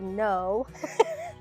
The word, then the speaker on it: Noh: So a third of my research is in a very old form of Japanese theater called Noh. N-O-H is how it's spelled. Okay.